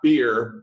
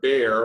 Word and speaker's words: Baer: today, Jay Baer, not beer, Baer, right, like the animal. Well, either really is appropriate. It's pronounced Baer, but beer is also a frequent occurrence.